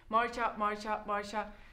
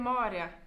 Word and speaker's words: Maarja: Marja. Mu nimi on Maarja. Raske aru saada või? Kuriti lambaga riimait. Maarja. Think we're saying a name wrong. I think it's Maarja.